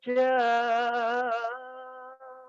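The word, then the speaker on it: ج: Saya amati para penyanyi kalau baca jimnya itu begitu, idza jaa, ya. Itu contoh yang kurang tepat. Yang tepat itu adalah pengucapan ja dari tenggorokan bagian tengah, ja, diangkat ke atas langit-langit.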